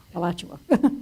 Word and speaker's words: Alachua: Michael helped me with the pronunciation. Alachua, just north of Gainesville.